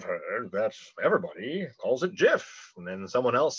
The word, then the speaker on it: GIF: say well i've heard that everybody calls it jif and then someone else says well choosy developers choose jeff the the original guy that invented it it's